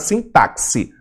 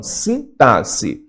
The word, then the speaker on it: sintaxe: Pronuncia direito, não é nada de sintaxe, não, sintaxe.